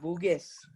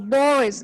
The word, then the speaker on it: Boris: I heard Buges. No, Boris. It's pronounced this way. That is why this exercise is very important, because you have to know how they are pronouncing the R and the other letters.